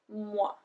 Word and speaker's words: mois: Les mois. Les mois. We don't pronounce the S.